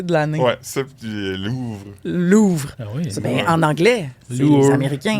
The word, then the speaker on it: Louvre: C'est dans le top des mots mal prononcés de l'année. Ouais. C'est Louvre. Louvre. Mais en anglais les américains. Lvre. Louis c'est t finissent par eux. Il prononce avec un a à fin comme Porche Louvra comm Porche OK, on a Bonnie Blue qui